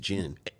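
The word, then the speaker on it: Djinn: It's just Jin. Well, it's, all right, Jin, but it's spelled... You're like doing like Django. Sorry. Well, I'm saying that so people spell it correctly. Right, that's mostly why I'm saying it. Because they'll look up Jin. The D is silent.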